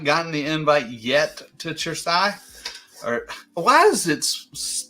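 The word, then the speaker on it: Cersaie: the invite yet to chersai or why is it pronounced your Sai and it's spelled with the c I don't understand well c e in Italian is a chess sound so sure CE is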